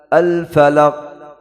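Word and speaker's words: الفلق: Kalau kita tidak baca qalqalah, belum tahu huruf apa. Al falaq. Al falaq. Laq, laq. Hah? Kalau kita baca qalqalah, sudah sempurna. Al falaq.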